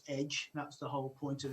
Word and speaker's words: EDJ: The details is EDJ Publishing, and if you're telling anybody, you can pronounce it as Edge.